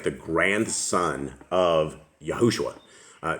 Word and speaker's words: Yahushua: good book it looks like the grandson of yahushua uh not not art not Joshua Joshua yeah yeah it's yahushua I'm actually I think Joshua's is yahushua and